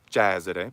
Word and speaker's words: Cesare: You for some words though, and one of them is Cesare in Italian. It's not Cesare, but Cesare. It ought to be Cesare, but it's closed Cesare.